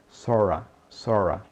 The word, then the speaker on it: sort of: Observe que a pronúncia no dia a dia de sort of é sora.